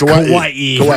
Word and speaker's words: Hawaii: Kauai but now that he's been there it's Hawaii when I moved to Boise and then I